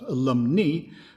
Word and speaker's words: alumni: We should really pronounce that alumni, but don't let me distract you with linguistic pedantry.